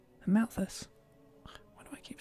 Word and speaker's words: Amalthus: Malolo just here to listen to very inspiring talks about glorious teachings of Praetor Amathius. Amalthus. Why do I keep saying the name wrong?